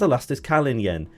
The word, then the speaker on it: Elastiskalinjen: also known over on Twitter and Mastodon as elastisk Callin Yen yes that is how you pronounce it I am sure Berry brother is